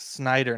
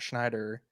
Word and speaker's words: Snyder: scene of everyone saying it's Zack Snyder not Schneider first off I don't